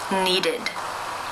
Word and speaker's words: needed: you pronounce this word the final sounds of the verb in the infinitive form is the D sound therefore it is case three where the e d is pronounced as the e as in sit with the D sound needed needed congratulations now you